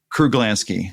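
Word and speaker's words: Kruglanski: Kruglansky.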